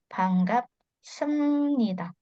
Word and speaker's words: 반갑습니다: Nah, terus yang di sini dibacanya M ya, karena tadi sebelumnya kita sempat bahas karena ada B ketemu N jadinya dibaca M ya. 반갑습니다.